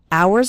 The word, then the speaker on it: hours: hours and hours remember the H in the word hours is silent so don't pronounce it at all hours and hours and the